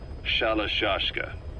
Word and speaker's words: Shalashashka: Someone must have known about that, because somewhere along the line, Shashka got stuck on the end of Sharashka. The guerrillas were using the name amongst themselves, and by the time I got to hearing about it, pronunciation had wound up as Shalashashka.